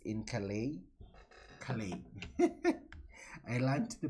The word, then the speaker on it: Calais: four years five years i thought the word was collides just uh reading like it's written and then it comes out that it's not the correct pronunciation so let's now see